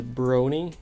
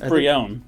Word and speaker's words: Brionne: So it's pure water and then evolves into Brony, I think. Brionne. I'm gonna be honest. This is probably the first Pokemon name I cannot pronounce for the life of me. I think it's Brionne. Brionne, that's it. Yeah, it's Brionne. Yeah, Brionne, which is also pure water.